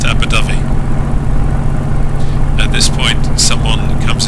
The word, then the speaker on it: Abu Dhabi: have Abu Dhabi or if I was going to pronounce it using my wonderful way of trying to pronounce things Fally that would be abodi but I know that it's pronounced abui at this point someone